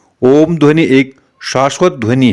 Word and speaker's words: ओम: सकारात्मक प्रभाव पड़ता है ओम पवित्र ध्वनि है इसका उच्चारण करते समय तीन अक्षरों की ध्वनि निकलती है यह तीन अक्षर अ उ म है इन तीनों अक्षरों में